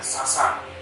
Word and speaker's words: सासाराम: जैसे अभी बिहार में एक जगह है सासाराम, उसका उच्चारण है सासाराम, SASARA, है ना, मगर मुंडा में सासाराम का मतलब होता है आराम का जगह।